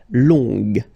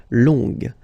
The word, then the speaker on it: longue: Okay, so phonetically it's longue, g, longue.